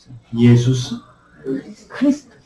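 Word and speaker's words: Ἰησοῦς Χριστός: 예수스 크리스토스.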